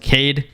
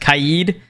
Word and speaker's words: Kaid: did you know that kade's name isn't pronounced Kade it's pronounced kaid now isn't pronounced knock